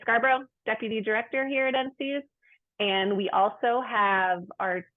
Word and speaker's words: NCEAS: logo up here um NC's we pronounce it NC is it stands for the